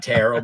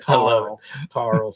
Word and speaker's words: Terrell: If you're in Texas, you can pronounce it Tarl, but you got to spell it with an E. Tarl, Texas.